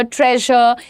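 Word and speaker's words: treasure: Laser, ट्रेजर, ये जितने भी SUR वाले वर्ड्स होते हैं ना, generally they are pronounced as ज, ठीक है।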